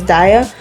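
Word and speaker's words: Daiya: Sorry for saying Daya, I know it's pronounced Daya, my bad.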